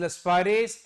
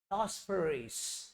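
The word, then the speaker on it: Laspeyres: Agreed, is लस्पाइरिस एंड पाशी। याद रखना, या पाशेस बोलते हैं। अच्छा अब यहां पर तुम्हारी गलती नहीं है, तुम्हें सिखाया ही ऐसे जाता है, लास्पेरिस। अरे अंग्रेजों, भाई सही प्रोनाउंसिएशन करो, बंदे ने, उसके माँ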